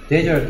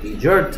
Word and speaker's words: desert: 데저트 아일랜드가 아니고 디저트 아일랜드라고 읽어야 됩니다.